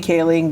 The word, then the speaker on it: Kaling: Okay, so we had Mindy Kaling became the first South Asian woman to get a star on the Walk of Fame, Hollywood She's Walk of Fame. hilarious. She's Love Mindy amazing. Kaling.